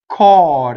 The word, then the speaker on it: cor: Core is the full word. The E is chopped off, right? For the poetry. So it's open O. Cor.